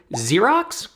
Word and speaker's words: Xerox: middle of the word Xerox with two x's and they're pronounced differently one pronounced like a